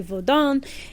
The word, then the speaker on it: vaudou: It's like their own thing, and it's more French like focused, so it's actually vaudin. And it's spelled like vaudou.